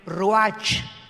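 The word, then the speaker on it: רוּחַ: Y la palabra para espíritu en el versículo 29 es la palabra, se escribe ruach, como suena con R de Raúl, CH al final, ruach, y se pronuncia ruach.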